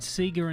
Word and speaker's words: Sega: Anyway, they said Seagga instead of Sega.